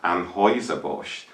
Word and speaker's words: Anheuser-Busch: The name of the brewing company that produces Bud Light is pronounced Anheuser-Busch, not Anheuser-Busch or Anheuser-Busch.